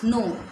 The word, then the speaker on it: know: How much, कितना, यू नो, KNOW, student K is silent in the spelling, it इज नो।